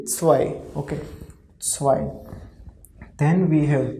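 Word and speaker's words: zwei: two that's why say pronunciation of z is up okay so then we have w pronunciation is vo and then e i so vo i so whoa i overall pronunciation will be swai okay swine then we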